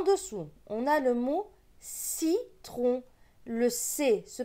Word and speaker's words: citron: juste après en dessous on a le mot citron le sait se prononce ce pas ce qui est le iie